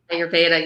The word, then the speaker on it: Ayurveda: Am I pronouncing that Ayurveda? Ayurveda, yeah.